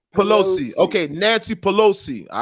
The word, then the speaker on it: Pelosi: How do you How do you properly pronunciate her name? Pelosi.